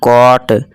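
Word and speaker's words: caught: अब यहाँ देखिए GH जो है ये साइलेंट रहता है।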